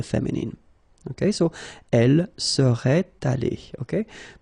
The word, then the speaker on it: allée: Okay, so elle serait allée, okay? But then phonetically it doesn't exist, all right? So it's allée here and then allée here, the way you pronounce it.